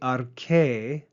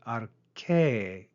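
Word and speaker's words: ἀρχή: We then see arche, note the circumflex accent at the end of that word, arche, rise and fall on that syllable.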